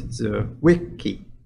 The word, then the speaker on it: Zwicky: So in this case, you can see that the middle one is where most of the stress is, so it's Zwicky.